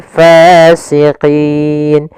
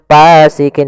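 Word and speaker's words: فاسقين: Hati-hati dalam melafalkan fa harus ada nafas yang dikeluarkan karena dia sifatnya sama jarun nafas. Jangan pasikin dengan p gitu ya.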